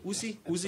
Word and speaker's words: ÚZSI: ÚZSI is like the ÚZSI gun, so it's the Czech ÚZSI, okay?